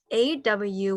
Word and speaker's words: aw: AW, we pronounce it like this. For the vowel, okay. So in English, like law, all right. Saw, in Hmong, shall, all right. So in the vowel in Hmong, AW, all right, that's how you pronounce it.